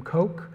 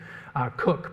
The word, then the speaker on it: Coke: documentation connected to William coke Cooke pardon it's spelled coke but pronounced Cooke who is the gentleman